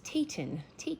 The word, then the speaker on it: Phaeton: So when this is not reversed, I was saying it wrong, it's Phaeton the Sylph.